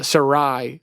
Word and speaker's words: Sarai: a particular story of uh Sarai I was interested to find out that that's how you pronounce uh Sarah's name before it was changed